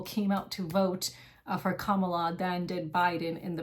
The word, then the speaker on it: Kamala: that I've been pronouncing kamala's name wrong so I'm trying to make an effort to pronounce it correctly I still don't like her but Kamala instead of Kamala um but I'm going